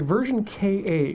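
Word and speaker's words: Ver.Ka: the version Ka sorry version Ka which I've I've learned is the the official pronunciation of ver dot k a really I feel like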